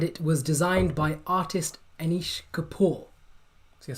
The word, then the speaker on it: Anish Kapoor: The sculpture is the Orbit, and it was designed by artist Anish Kapoor. So your spelling doesn't have to be great, but Yeah. Kapoor.